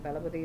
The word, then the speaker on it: Thalapathy: Talapati is a title that Makkal, the people, have given him for the work he's done. And so it's spelled Thalapathy space Vijay. And I say that Talapati